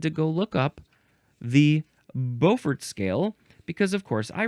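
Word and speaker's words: Beaufort: go look up the Bowfort scale because of course I read this a very long time ago. Uh let's see. B AU. That is how you spell Bowfort.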